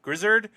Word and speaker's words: Grizzard: Uh Josh, I think it's Grizzard. Grizzard is how you pronounce it.